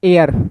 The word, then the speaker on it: heir: HEIR। इसको क्या पढ़ेंगे? इसको पढ़ेंगे अपन एयर। क्या पढ़ते हैं? एयर। तो एच साइलेंट है, इसमें भी किस आर्टिकल का यूज हो जाएगा?